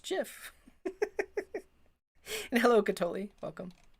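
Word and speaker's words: GIF: thank you very much it's pronounced jiff and hello cat Olli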